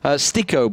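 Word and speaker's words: STYKO: Stico, by the way, is apparently how we pronounce it, not Styco. Stico. Okay, yeah. Brilliant. I mean, Styco is just kind of the logical. Yeah, because it's a Y. That's English, right?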